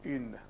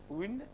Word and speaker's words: une: What happens in une or une? Une, une. What happens here? You pronounce oo. Keep your mouth in the same position. Don't let your mouth move. Keep it there for 2 seconds.